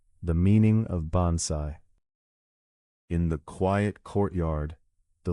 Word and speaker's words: bonsai: Bonsai is pronounced roughly bonsai.